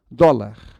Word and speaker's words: dólar: Não é o caso aqui, porque o acento de dólar está no dó. Então, a palavra que tem a penúltima sílaba tônica é a palavra chamada paroxítona.